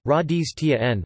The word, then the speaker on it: Rajasthan: Rajasthan, Hindustani pronunciation, Radhis Tien, listen, literally, land of kings, is a state in northern India.